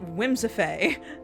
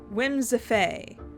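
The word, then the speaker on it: Whimsiphae: and when whims whimsify whimsify how it's pronounced it's spelled w-h-i-m-s-i-p-h-a-e whims of a well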